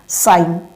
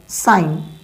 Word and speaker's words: sign: अब देखो यहाँ पास साइन SIGN होता है, लेकिन है क्या यहाँ जी, यहाँ पास साइलेंट है और हम पढ़ क्या रहे हैं? साइन।